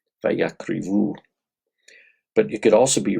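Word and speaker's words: וַיַּקְרִיבוּ: The one difference is that in the Masoretic text, it's spelled Vav, Yod, Kuf, Resh, Bet, Vav, Vayakrivu, and that the E sound here is with a hirik, Vayakrivu.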